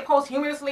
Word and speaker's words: posthumously: As I said, the man's estate, you know, what did he say, posthumously, is how you pronounce it, is worth $2 billion.